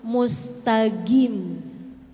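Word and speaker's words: مستقيم: saya ingat waktu membahas huruf qf qf q dalam Surah Fatihah ihdinatal mustqim mustaqim orang-orang Arab dengan lahjah Arab banyak yang bacanya ihdinatal mustaqim jadi kedengarannya kayak G ihdinatal Mustaqim ai girilaiin itu yang mustaqim namanya qf yang berat Musta tebal gitu ya Q yang tebal Q yang berat yang mustaqim itu namanya AF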